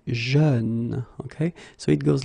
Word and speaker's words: jeune: Same thing, you don't say je, you say jeune, okay? So it goes like peur, œuvre, jeune, okay?